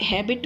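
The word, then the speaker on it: habit: अब हैबिट में तो एच साइलेंट नहीं है, ऑनेस्ट थोड़ी है ना, तो एच हैबिट है, तो एच आपका कंसोनेंट हुआ, तो कंसोनेंट के लिए हम क्या लगाते हैं, ए।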